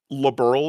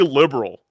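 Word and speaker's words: Liberl: Uh, for some reason almost every time liberal is pronounced in the demo, they say liberal. And I'm like, no, that isn't correct.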